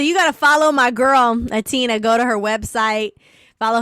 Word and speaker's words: H'Atina: y'all pronounce the h now just put the h in there but don't pronounce it okay okay what's up with my girl atina singer songwriter diva extraordinaire